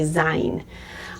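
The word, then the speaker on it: זין: So you can see they do have a similar shape, but this one makes the Z sound. Okay, Zayin.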